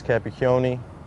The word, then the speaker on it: Capicchioni: with it man there's my name is capiccioni I'm from Macomb Jarno outpost we go speed